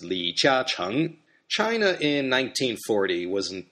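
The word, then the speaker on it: 李嘉誠: In Mandarin, his name is pronounced Li Jiacheng.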